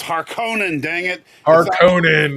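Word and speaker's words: Harkonnen: right I do believe it's har Conan well har Conan is how they said it in the David Lynch film okay okay okay and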